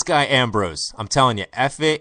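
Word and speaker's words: Efe: This guy Ambrose, I'm telling you, F.A. Ambrose, E-F-E, I'm sure somebody from Nigeria is going to call in and say, that's not how you pronounce it. It's F.A. Ambrose.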